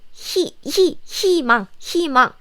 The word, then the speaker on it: 희망: The pronunciation here is 희망. So this sound dropped and just think this is like 희망. Yes, the sounds is different. Why? If there is any consonant here, then the pronunciation become 이.